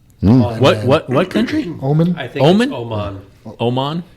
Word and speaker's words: Oman: but pretty cool we picked up Omen which is a country near uh Yemen what what country Omen Omen Oman Oman it's spelled o-m-e-n but whatever I said that when